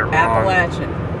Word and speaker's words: Appalachian: not norfolk virginia yeah just don't say the mountain range around here because you're more likely to say it appalachian there you go now